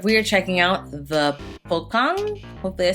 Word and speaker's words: Pocong: Oh, Pocong is how you say it.